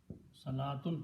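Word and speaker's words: صلاة: In the Quran, you will see sometimes this waw is written, sometimes this waw is not written. It is not pronounced. It's not part of the word.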